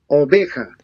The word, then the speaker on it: oveja: Okay, so the J sounds more like an H in English.